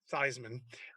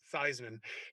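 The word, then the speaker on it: Theismann: it you convinced not only joe thiesman to pronounce his name theisman uh but even his family to this day pronounces it theisman do you mind sharing the story yeah that's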